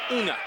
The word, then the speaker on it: Unga: The G is almost silent, so it's like Unga.